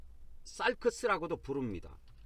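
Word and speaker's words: σάρξ: 도 이 처럼 옆 으로 기울어진 형태 로 발음 됩니다 . * 사르크스 *.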